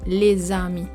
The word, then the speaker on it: les amis: And when the S consonant links to an A vowel, that's what we call a liaison. And the liaison here is the Z sound. Follow the arrow below, so the pronunciation is les amis.